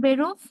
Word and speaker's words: Beruf: ইংরেজি ভি এর মতো উচ্চারণ হয়, তাহলে দেখেন ভাস। ঠিক আছে, এবার বলি। আচ্ছা, was machen Sie von Beruf?